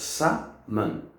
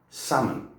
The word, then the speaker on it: salmon: But we do not pronounce the L. This is a silent L. Remember in science there was a C, silent C as well. So this one we do not pronounce. So it goes salmon, salmon.